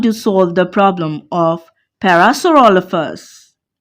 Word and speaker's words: Parasaurolophus: I want to solve the problem of Parasaurolophus, said Professor. Parasaurolophus. PH sounds F, said Professor Penelope.